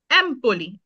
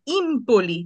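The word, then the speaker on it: Empoli: এটা এ তেমন আমরা কোন নাম দিতে পারি এমপলি এ তে শহর থাকতে পারে এমপলি হুম এ কমে এমপলি তো এমপলিটা যদি ই দিয়ে উচ্চারণ করি ইমপলি তাহলে কি হচ্ছে জি না তাহলে হবে না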